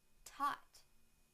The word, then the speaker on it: taught: Now the t sound in the word taught, taught, taught.